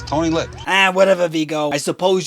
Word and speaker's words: Tony Lip: the lip for short it's not tony dolip it's tony lip ah whatever viggo i